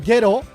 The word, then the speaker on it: Gero: gente, which means people, you pronounce that as he rather than with a hard G like ge as in Gero.